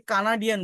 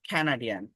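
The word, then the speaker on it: Canadian: দেখেন এটাকে কানাডিয়ান বলি আমরা, বাট ক্যানাডিয়ান, ক্যানাডিয়ান, ক্যানাডিয়ান coffee house KFC campaign for chocolate cake in Cambodia.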